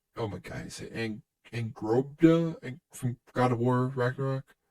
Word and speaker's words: Angrboda: my god, is it Angrobda from God of War Ragnarok? oh, Angraboa. Yeah. Oh, they spelled it wrong. No. The Well, I don't know how I to don't. pronounce it. It's Angrboda.